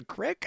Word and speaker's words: creek: Everyone else calls it the crick, I guess. Yeah, that's true. In the South, they creek? call it, we're going over to the creek. Going down the crick. But I say creek.